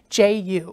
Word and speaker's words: Ju: The little girl's name was Jenny Ju, J-U. J-U, and they pronounced it Ju.